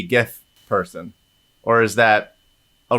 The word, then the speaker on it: GIF: The first word is graphic. It's a hard G. It's a hard G. Oh, Libby, do you say GIF?